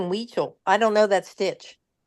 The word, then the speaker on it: Huichol: Maggie, how are you spelling Weechel?